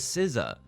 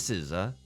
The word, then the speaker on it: SZA: Like, oh, what marvelous flights of fancy you must have been on to think that it was SZA. No, it is SZA.